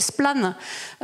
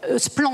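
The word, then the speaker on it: Splann: Et je ferai allusion à une petite structure qui s'appelle Splan, qui est née en Bretagne. Splan, on dit oui, parce que j'ai pas l'accent breton, pardon.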